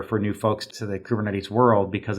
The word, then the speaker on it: Kubernetes: She insists on mispronouncing Kubernetes as Copernicus.